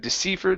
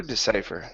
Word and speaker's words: decipher: the movement all right so yeah instead of decifer decipher nice decipher yes next